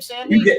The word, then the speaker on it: Sandy: Is that how you pronounce your last name, Sandy? You got it right.